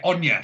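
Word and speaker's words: Anie: on you but yeah anya so it's like the way it's not spelt the way it's pronounced so it's a-n-i-e on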